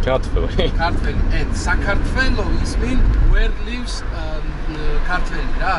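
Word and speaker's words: საქართველო: Georgia is Sakartvelo. Georgian. No. Sakartvelo.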